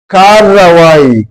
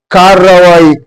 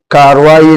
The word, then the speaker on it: کارروائی: میں اس طرح ہوگا کارروائی، کاروائی نہیں، کارروائی، رے کو ہم کھینچ کے 2 مرتبہ پڑھیں گے تو یہ لفظ، یہ